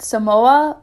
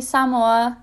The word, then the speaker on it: Samoa: i continue a lot of people call it samoa but the correct pronunciation is actually samoa so now you know american samoa is located